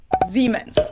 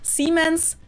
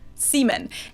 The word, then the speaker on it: Siemens: pronounce this terribly wrong now i've gotten so many comments from people saying that non-germans pronounced this brand name so differently and some people even said that to their ears it sounded like the english word c oh my god